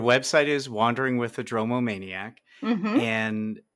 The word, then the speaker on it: dromomaniac: go to your other passion what is a dromo maniac I get that question a lot I'm sure you can imagine and did I pronounce it correctly yes you did and a